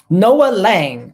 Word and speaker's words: Noa Lang: How do you pronounce his name? Let me say it. It is Noah Lang.